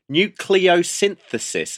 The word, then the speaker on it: nucleosynthesis: Um now Matt, you're going to have to pronounce this one. I think it's nucleioynthesis.